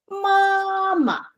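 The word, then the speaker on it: 妈妈: Mama. Okay, mama. If you don't go above your head, you cannot pronounce this properly.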